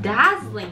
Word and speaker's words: dazzling: ここの dazzling。